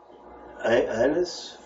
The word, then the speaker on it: Annas: And led him away to Annas? Is that how you pronounce it?